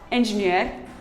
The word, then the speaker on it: engineer: call them engineer or engineer, but the word is actually pronounced as engineer. Engineer. The R is silent.